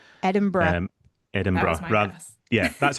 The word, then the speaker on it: Edinburgh: So, it is pronounced Edinburgh. So, it's it sounds like bru at the end, bruh, rather than Edinburgh. Edinburgh.